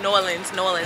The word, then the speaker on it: New Orleans: I'm in New Orleans.